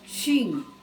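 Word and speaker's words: 真: la línea del cielo en japonés se pronuncia chin en el idioma japonés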